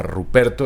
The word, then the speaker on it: Rupert: el hijo se llamaba Ruperto, era un militar muy prestigioso, entonces Carlos lo manda a llamar de Alemania. Ruperto del Rin se llamaba. Pero ¿cómo se dice en alemán? Rupert.